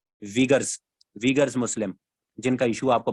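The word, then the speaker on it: Uyghurs: मुस्लिम है, वीगर्स मुस्लिम, इसे कोई यूगर्स मुस्लिम पढ़ते हैं, लेकिन जहां तक जितनी मैंने न्यूज जोन सी हैं इंग्लिश वेबसाइट्स, ये इंग्लिश न्यूज मैंने सुनी है, उसमें वो इनको वीगर्स ही प्रोनाउंस कर रहे होते हैं, वीगर्स।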